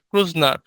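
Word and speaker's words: Kreutznaer: real name was Robinson ক্রুজনার এটা হচ্ছে তোমার একটা জার্মানি ওয়ার্ড জার্মান ওয়ার্ড ক্রুজনার এরকম একটা আর কি উচ্চারণ তো যাই হোক আমরা ক্রুজনার বলবো আর বানানটা ঠিক রাখবো যদি কখনো রিয়েল নেমটা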